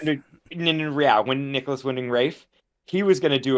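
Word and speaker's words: Nicolas Winding Refn: Is I never say his name right, but it's like Windref Writing. Oh no, like Nicholas Winding Rafe. Yeah, Nicholas Winding Rafe.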